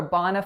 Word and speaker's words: bona: The first word is bona. Bona. So two syllables there. That first vowel is that low back open ah sound, and the second vowel is a schwa.